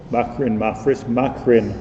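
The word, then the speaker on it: מקרן: It's written mem kuf reish nun, but it's pronounced makrin as if it has a yud.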